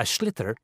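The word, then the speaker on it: sliotar: have to get this ball called a schlitter that's s-l-i-o-t-a-r so it's not spelled the way it's pronounced you hit it into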